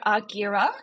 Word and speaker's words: Argira: did that come about and how do you pronounce it so aguira is the business name and that is named